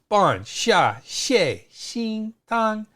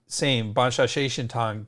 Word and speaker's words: Xia Xie Xin Tang: Another name for this, so it's pronounced exactly the same, Xia Xie Xin Tang, but it's in Wade Giles.